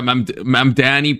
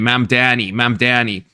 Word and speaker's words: Mamdani: Saying that he would live under a Mamdani presidency or presidency under a Mamdani.